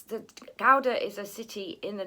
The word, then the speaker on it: Gouda: cheese as you know i think the pronunciation is something like powder we don't really have an equivalent for that g sound in english um it's the gowda is a city in